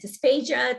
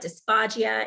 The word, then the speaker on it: dysphagia: A quick note on swallowing impairment, dysphagia, dysphagia, it is pronounced, I have recently learned it's correct either way you say it.